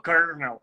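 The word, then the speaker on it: colonel: Não tinha nenhum R, aí você falou kernel, que é a pronúncia correta.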